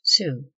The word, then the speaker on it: sew: Sew or sew, pronounced sue.